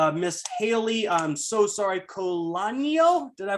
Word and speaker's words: Colannino: So without further ado, Miss Haylee, I'm so sorry, Colannino, did I pronounce that right? Close. Colannino.